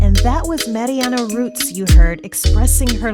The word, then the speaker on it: Marianne: My name is Marianne Rutz, and it's actually pronounced Marianne the German way, kind of a bit of a giveaway, but I'm not German.